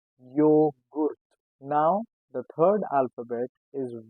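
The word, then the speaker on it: Joghurt: So in German we call it yogurt, but it starts with J.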